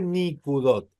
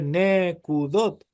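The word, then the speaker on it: נקודות: en plural es nekudot ya no es más ni cudot no se dice nicot se dice nekudot la i cuando pasó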